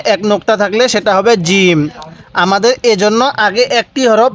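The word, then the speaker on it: جيم: শব্দটার নাম কি জিম জিমটা আমরা শক্ত করে উচ্চারণ করব ফাটা নরম করে জিমটা শক্তভাবে উচ্চারণ করব কারণ জিমের পেটে কি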